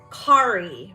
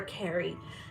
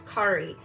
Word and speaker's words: Kari: rooting artist kit cut it's Kari but it's spelled c-a-r-i so I always want to call her Carrie it's Kari um for Rylan it